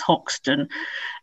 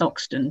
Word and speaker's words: Hoxton: based in oxton and i have to say oxton i always say my dad is actually from hoxton and i've never pronounced hoxton as hoxton unless i really really try so it's oxton to me but yes and lived